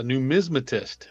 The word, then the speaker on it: numismatist: Yes, a numismatist. Most folks can't pronounce it correctly either.